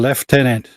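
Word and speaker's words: lieutenant: right you know it's actually pronounced colonel colonel and left tenant but it was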